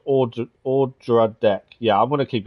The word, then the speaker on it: Odradek: The O is pronounced Odradek. Yeah, I'm going to keep getting it wrong. I've always called it the Ododek.